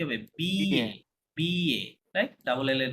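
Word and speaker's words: billet: এ হয় না, আপনার লিখে দিয়েছিলাম, মাঝখানে ডাবল এল সাইলেন্ট, তাহলে কি হবে? বিএ, BA, right?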